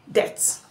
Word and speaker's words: debt: Debt. Yeah. Debt. Debt. The letter B there is silent.